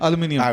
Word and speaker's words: aluminium: is the curse aluminum that's what the BR Americans Americans say aluminum H British we we all say aluminum Alum aluminium or aluminium aluminium aluminium and that's the correct one because there Mi i